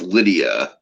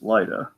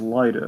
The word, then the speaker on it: Lyda: It's just it reads like Lydia, and I know it's like what it says on there, but it's pronounced Lyda.